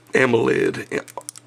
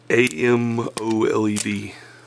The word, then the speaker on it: AMOLED: It's got a, what is it, a 3.7 inch AMOLED display, which I have a hard time pronouncing for some reason, but it's AMOLED, AMOLED.